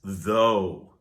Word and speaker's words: though: Next is though. This word is often used to introduce a contrasting idea. It starts with the, which is followed by O, and the GH is not pronounced.